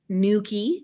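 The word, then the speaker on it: Newquay: went to tentagel marazion Nuki because I know how to say it now pen ANS I mean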